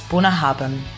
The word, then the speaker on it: Bunnahabhain: And that's how you spell it: Bunnahbain, and it's Bunnahabhain, from the Isle of Isla, west of Scotland, on the Scottish Isles.